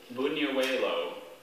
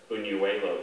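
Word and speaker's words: Buñuelo: Bunuelo.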